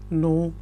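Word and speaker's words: know: ज्यादा पता है यू नो more you नो more you नो मोर अब याद रखें यहां पे जो के है वह साइलेंट है इसलिए मैं कह रहा हूं यू नो मोर कनो नहीं इसको पढ़ना आपने आपने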